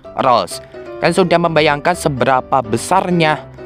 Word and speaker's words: Rolls: nama fiksinya ini adalah Henry Rose atau HR bukan Rohman Rohim ya guys yang bener itu Henry rolls kan sudah membayangkan seberapa